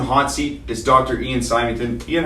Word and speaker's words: Symington: Whenever I go visit family in Scotland, it's always Symington, so I know that it's the right way to say it.